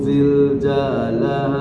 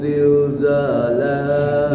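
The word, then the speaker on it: زلزالها: Idza juljilatil ardu ziljalaha. Nah, masih ada jainya ya. Tuh. Jadi Bapak lihat hurufnya zai tapi dibacanya ja.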